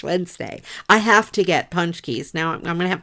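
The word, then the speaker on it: pączki: at the store and they're spelled like p a z or p a z c k SI or something I don't know how it's spelled but they're pronounced punch Keys they're so good the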